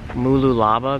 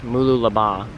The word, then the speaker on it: Mooloolaba: you been following me I've been saying Mooloolaba this whole time apparently it's pronounced Mooloolaba so just a little bit different inflection so noosa in